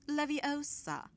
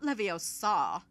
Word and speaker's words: Leviosa: someone's eye out besides you're saying it wrong it's leviosa not leviosa now if you don't